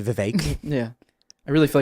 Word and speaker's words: Vivek: Gary says it's Vivek like cake.